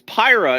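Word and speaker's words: Pyrrha: the like the mythical character like puro right pira right that's how i say it chat was exploding at me it's not pronounced piro it's pyra and i'm like well then he should friggin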